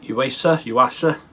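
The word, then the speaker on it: Yuasa: Yeah, Uasa. That's how you pronounce it.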